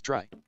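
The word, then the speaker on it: trie: in dictionaries is probably a tree pronounce try a tree also known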